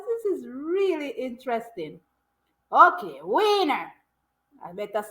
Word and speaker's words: Wiener: The German W is pronounced like in English V, and it usually refers to the sausage.